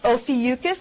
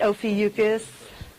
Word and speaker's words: Ophiuchus: Ophiuchus. That's how I say it. Ophiuchus.